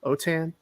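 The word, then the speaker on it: Autin: my name is last name is spelled a-u-t-i-n otan occasion so you can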